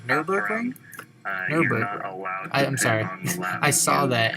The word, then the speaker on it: Nürburgring: So I was I saying Nuremberg? Exactly what, I'm sorry. What happened, there's 2 Germany tracks. How do you pronounce that? Nürburgring. Nürburgring? Nürburgring.